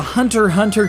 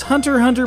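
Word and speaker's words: Hunter × Hunter: bit harsh though because Hunter Hunter plays very much like those Castlevania titles of old just with a bit more RPG isness Hunter Hunter the x is silent apparently has been running in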